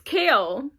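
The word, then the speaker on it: Chaol: crowd of midnight and now I know how to pronounce the name because I watched um some reactions it's kale so I now I know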